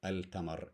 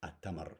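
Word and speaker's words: التمر: a pronunciation thing so it's not El Tamar it's atamar because this is a sun letter a shark again Sheen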